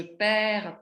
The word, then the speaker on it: perds: Parce qu'il y a ce D, vous voyez, qui est présent à toutes les personnes qui ne se prononcent pas au singulier, qui se prononcent seulement au pluriel.